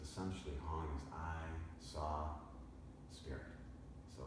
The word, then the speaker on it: Hong Sau: is called Hong s Hong is two words so h o n g rhymes with song I'm singing a song and then saw is sa but it's just like I saw with pretty flowers so Hong saw it's